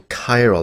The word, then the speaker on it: chiral: as chiral compounds right you pronounce that chi roll or whatever that says in your uh in your textbook so chiral that's how you put that ch has a is a hard k sound so that's kind of